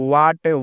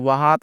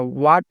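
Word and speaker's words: what: व्हाट वात नहीं पढ़ना है। व्हाट इसका उच्चारण करना है।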